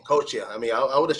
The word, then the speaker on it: Coscia: course I asked you earlier about how you pronounced your name bro and I mean your last name coacha I mean I would have chopped it up